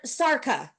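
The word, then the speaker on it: Szarka: SS and how do you say it's Kurt Sara there it is yes so many great names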